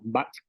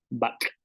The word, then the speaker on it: bak': Por ejemplo, back con la consonante K más la glotal que tiene una pronunciación de K. Tenemos un sonido en la ovular, back, que significa carne.